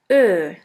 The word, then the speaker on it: Ö: The second umlaut is Ö, Ö, or O umlaut. Ö is pronounced like the word flirt or the word girl.